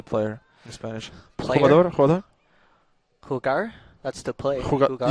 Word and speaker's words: jugador: then the J and H, you know? Like J sounds like an H. Uh-huh. So when like Player. How do you say player in Spanish? player, Jugador?